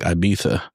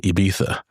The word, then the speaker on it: Ibiza: director and writer, where he pronounces it in the British way of like Ibiza. Whereas like people like just about everywhere else are going to say Ibiza.